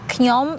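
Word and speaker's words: ខ្ញុំ: to say it in Khmer, Knyom, say like Knyom, it's mean I, right? Knyom. Like good, it's thinking, right? Good, Twơ Krama ni, mode ni, or you can say mode ni is like design. Knyom good, Twơ Krama mode ni.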